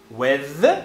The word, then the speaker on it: with: E uma coisa interessante de você saber é que as duas pronúncias são possíveis. As duas pronúncias são permitidas, as duas pronúncias são usadas pelo nativo. With, com eth, é mais comum do que with, com teta.